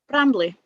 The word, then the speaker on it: Brambley: Brambley. Brambley? Yeah. So a mixture of Bramble and Bramley, basically.